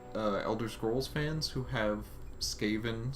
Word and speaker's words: Skaven: It's gonna be pronounced Skaven.